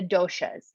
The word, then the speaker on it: doshas: look at are the doshas this looks like it's spelled dosas but there should be an h there this is not a snack food um we really want